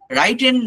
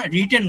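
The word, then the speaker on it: written: রাইটেন বলবেন না, রিটেন বলবেন, ঠিক আছে? উচ্চারণটা হচ্ছে রিটেন, ড্রিভেন, নট ড্রাইভেন, ড্রিভেন।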